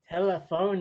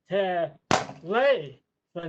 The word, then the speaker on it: telephone: and then she said it's not pronounced telephone oh it's pronounced ter lay four no no after that